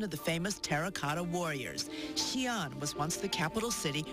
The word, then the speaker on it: Xi'an: Xi'an.